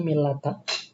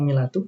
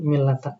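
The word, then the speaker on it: ملة: Nah, untuk yang ini ee yang lebih fasih itu yang dibacanya milata. Mungkin ana dap pernah dapati juga yang milatu, tapi e yang lebih sering di yang lebih masyur teksnya itu millata di sini.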